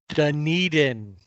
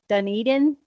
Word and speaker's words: Dunedin: Dunedin. Dunedin?